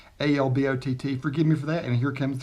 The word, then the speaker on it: Albott: which I shot earlier i pronounced the name wrong it looked like abbott to me but it's 8 lb ott alb ott forgive me for that